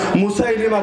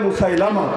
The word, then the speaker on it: মুসাইলিমা: হাবিব রাদিয়াল্লাহু আনহু আল্লাহ রাসূলের এক সাহাবী, তাকে পাঠানো হয়েছে ভণ্ড নবুয়তের দাবিদার মুসাইলিমা কাযযাব, লোকে বলে মুসাইলামা, সহিহ উচ্চারণ মুসাইলিমা।